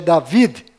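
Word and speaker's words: דוד: m mudo no final Rei Davi que na verdade é David com d mudo no final e Jacó que na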